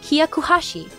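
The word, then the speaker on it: 百八: He said, 108 in Japanese is read Hyakuhashi. It rhymes with shakuhashi, a traditional recorder-like instrument which is also slang for blowjob.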